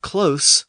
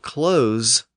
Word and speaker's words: close: So we have close with an S sound, but we might close the door with a Z sound.